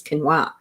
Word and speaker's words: quinoa: And that's why I know that quinoa is not pronounced that. It's quinoa.